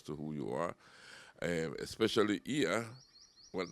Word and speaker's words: Iya: Iya, am I pronouncing it correct? Perfectly correct.